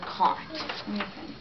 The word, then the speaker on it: caught: And you're going to see this in most of the pages of your book, but it's a jailhouse word because look at all those silent letters in caught.